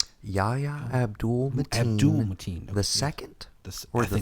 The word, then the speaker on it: Yahya Abdul-Mateen: How do you pronounce his name? Yahya Abdul-Mateen.